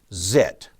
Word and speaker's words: XIT: here and there is xit or transmitter incremental tuning often pronounced zit you can adjust your